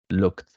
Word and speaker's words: looked: Another example, looked, a hit with your tongue in the letter D, but you don't pronounce the letter E, looked.